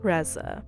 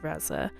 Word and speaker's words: Reza: properly but it's Reza so is usually pretty easy to say phonetically once you see it spelled but I got quite a lot of different pronunciations of razza but anyway thank you